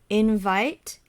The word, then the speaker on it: invite: where is the stress right invite the stress is on the second syllable invite so we have it soft and then loud invite so stress is